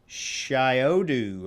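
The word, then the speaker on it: Shyodu: tell her good luck shiodu i think is how you pronounce it s-h-y-o-d-u instrument company and uh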